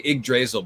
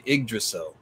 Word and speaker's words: Yggdrasil: how that pronounces yeah i want to say igdrazeal but that's wrong it is actually iggdracil so i'll go ahead with that the emphasis is supposed to be on egg so the most common